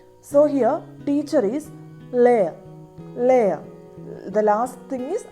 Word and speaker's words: lærer: So it sounds like layer, layer with very soft and trailing echo. So here teacher is layer, layer.